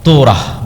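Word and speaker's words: תורה: মুসা আলাইহিস সালাতু ওয়াস সালামের কওমকে যখন তাওরাত দেওয়া হলো, তোরাহ বলে ইহুদিরা, উচ্চারণ করে যে তোরাহ, যখন তাওরাত দেওয়া হলো,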